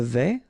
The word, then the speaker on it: vais: Je vais, final S not pronounced here, and remember when you combine this A and E together, you get the sound E, so really open. Je vais.